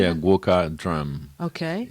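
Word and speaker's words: gwoka: Yeah, guoka drum.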